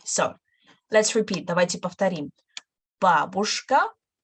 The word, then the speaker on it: бабушка: Бабушка, stress on the first syllable, бабушка, дедушка, внучка, и внук.